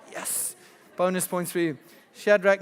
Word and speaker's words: Shadrach: You've heard the story of Daniel, Shadrach, Meshach, and good pronunciation, son. Yes. Bonus points for you. Shadrach, Meshach, and Abednego.